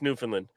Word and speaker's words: Newfoundland: There's the O and the O and the first D are silent. Hey, Doug, I'm from Boston. It's where America started. So I don't care. It's Newfoundland.